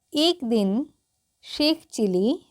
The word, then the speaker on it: चिल्ली: है एक दिन शेख चिली देखिए यहां पर दो अक्षर है आधा ल है तो भी हम यहां पर इसका हल्की सी उच्चारण लेंगे ठीक है देखिए मैं